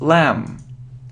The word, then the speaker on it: lamb: It isn't lamp, it's lamb. It isn't castle, it's castle. It isn't often, yeah, so we normally pronounce it without t.